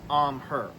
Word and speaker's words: AMHEH: All right, so we have this bag from Amher. Now, it's spelled A M H Eh, but it's pronounced Amher.